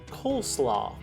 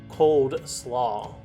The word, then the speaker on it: coleslaw: it said incorrectly this southern side dish is pronounced coleslaw many will pronounce this barbeque favourite as cold slaw our fourth phrase for all intents and purposes